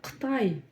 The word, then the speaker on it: Қытай: Сначала пробуем откашляться через обычную букву К. Да-да-да, в казахском языке есть и обычная буква К, та, что в русском языке используется, и та самая специфическая казахская. Так вот, пробуем откашляться через букву К. К, К, К. Затем у нас идет буква И. Вот она, да? Как ее прочитать? В отличие от русской буквы И, она читается очень и очень коротко.